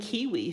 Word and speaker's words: kiwi: Take the New Zealand kiwi, whose name rhymes with peewee.